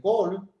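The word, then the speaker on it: kohl: Col se escribe K-O-H-L, un cosmético a base de galena.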